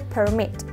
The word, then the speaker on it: permit: de la forma correcta tienes que hacerlo así te fijas está r es muy suavecita y además el golpe de voz le daremos en Mitch no en la primera sílaba no nosotros decimos permiso